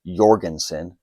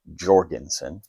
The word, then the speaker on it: Jorgensen: The 3040 KRAG-JORGENSEN is pronounced Jorgensen, not Jorgensen. It's Norwegian.